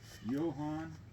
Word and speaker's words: Johann: The way it's pronounced with the way the Germans said it, it's Johann Wintel with a V and a T, and the George is pronounced Georg, and Trout is pronounced Trot.